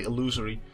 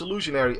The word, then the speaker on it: illusionary: I pronounced it correctly I thought I was going to say illusory but it's illusionary armor um this just isn't